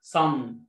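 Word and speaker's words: sun: شورت يو قلت لك قبل كده حرف الاس لما يكون وراه او او وراه يو في اغلب الاحيان بيتنطق زي حرف الصاد في اللغه العربيه. صن صن صن صن صن.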